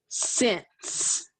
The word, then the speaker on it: sense: let's sound it out let's spell it s e n s e the ending sc but guess what when we're writing it and coding it you will code it with a line on that e in the final position because you don't hear